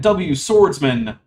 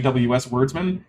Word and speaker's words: W Swordsman: 404, Christine V, and W Swordsman, which is how I was told to pronounce that, because apparently I've been saying WS Wordsman, and that's not correct. It's W Swordsman.